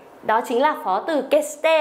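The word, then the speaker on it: 決して: Kesite, đây đọc là kesite, cũng là nhất định này.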